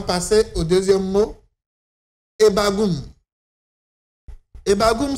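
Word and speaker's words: E'bag'um: au 2è mot hebbagou etbagou s'écrit comme sui e B a g apostrophe u m le E ce premier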